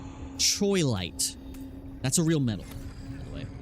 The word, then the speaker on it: Troilite: Trollite. I always say it wrong. Troilite.